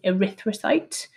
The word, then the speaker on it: erythrocyte: a red blood cell the fancy term for the word red blood cell is erythrocyte which is spelt e r y and now i can't remember the rest t h r o c y t e and the suffix site